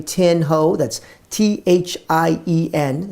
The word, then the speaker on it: Thien: That's Thien. It's pronounced Tin. Win with Tin.